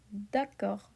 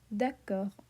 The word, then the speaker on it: d'accord: It ends in a D, so D is not in here, is it? No. So the D is silent, but R is present in the careful. So we say R. So it would sound like d'accord, d'accord. Okay?